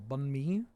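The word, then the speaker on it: bánh mì: All right, I'm going to talk about uh what Spider-Man softer and more downward annunciation on the last syllable. Bun me bunme bun me instead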